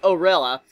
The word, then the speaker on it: Oria: So my story, Rose of Oria, pronounced Orilla, took your interest the most, and so I've sent you some dialogue from the scene to hear your thoughts.